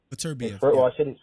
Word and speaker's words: Beterbiev: I can't pronounce his name right. Beterbiev.